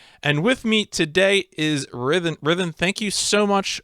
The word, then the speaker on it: rythin: in some stream is rhythm like like similar to rhythm the preferred pronunciation yes that is the pronunciation i had in mind i came up with this but everyone says ryden it's it's whatever i